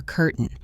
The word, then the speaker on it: curtain: words like button or curtain. Instead of saying the t, we stop the air in our throat. Bon cane. It is like a little hiccup in the middle of the word.